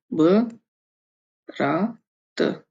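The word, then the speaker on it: брат: ये है बा, रा, ना सॉरी बा नहीं है, ये होगा ब, माफ कीजिए, ब, रा, त, ब्रात, ब्रात। इसको जल्दबाजी में पढ़ते तो क्या जाता है ब्रात, ब्रात।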